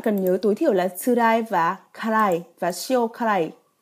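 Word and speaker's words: 辛い: Chữ Hán thì giống hệt với karai đúng không ạ? Nhưng đọc là tsurai nhé.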